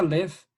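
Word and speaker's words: לב: analizada desde esta perspectiva esta palabra en hebreo significa que se pronuncia left significa corazón significa corazón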